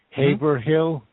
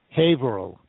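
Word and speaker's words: Haverhill: that the town in Massachusetts that you mentioned Haver Hill it's actually it's actually hail that's the way it's pronounced even though it's spelled ha Hill it's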